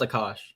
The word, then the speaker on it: Akash: It's it's pronounced Akash.